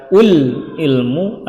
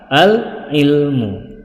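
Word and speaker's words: العلم: Dan yang terakhir al-ilmu, tidak boleh dibaca ul-ilmu atau il-ilmu, tetapi yang benar adalah al-ilmu.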